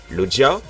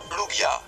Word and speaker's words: Lugia: Logia, Luja ou Lugia ? Lugia. Yes, j'ai bon.